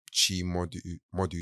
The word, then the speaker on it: Chimodu: And you can follow that page at Chai Modu, so it's spelled CHIMODU, and that's on Instagram.